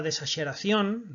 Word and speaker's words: desaxeración: Desaxeración, bueno, pues tiene la sílaba tónica en la cabeira sílaba. y rematan a letra N.